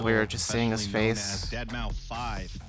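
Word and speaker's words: deadmau5: Dead mouth 5. Yes, that is the correct way to pronounce it.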